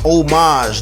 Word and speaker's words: homage: they pay a proper homage the word is oh homage stop it you sound like a damn fool when you say it wrong all right then tell